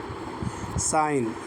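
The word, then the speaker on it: sign: जैसे मिसाल देख लेते हैं। साइन एस आई एन एस आई जी एन तो जी एन से पहले है।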